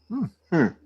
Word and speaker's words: Mooneschadowe: No, actually, it's spelled in Old English. MOONESCHADOWE. Moonshadow. Different.